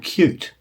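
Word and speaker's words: Qt: visuals we relied on a product called cute which is spelled big q small T this isn't a computer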